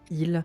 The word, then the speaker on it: île: And that's also again a thing where in French nowadays it's pronounced and written like il. Like there's no s, but there used to